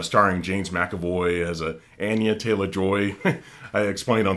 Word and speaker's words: Anya: her name that way I've also heard people announce her name Anya with her present as well so maybe it's it's a matter of choice but if she's going to pronounce it Anya I'm going to pronounce it that way too but she's really great